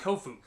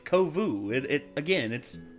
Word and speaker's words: Kovu: She bumps into another lion cub named Kofu. Yeah, he says Kofu. He literally says Kofu. It's Kovu.